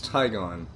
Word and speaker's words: Tigon: they were like wait how do you pronounce that it's tigon look at the lamp